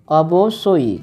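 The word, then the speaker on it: অবশ্যই: मेघा, बेशक को बोलते हैं अबो सोई, क्या बोलते हैं अबो सोई, मतलब होता है बेशक, यहाँ जो ब्रैकेट में लिखा गया है उसका ओरिजिनल प्रोनाउंसिएशन यही है, अबो सोई, क्या बोलेंगे अबो सोई, जानो मतलब होता है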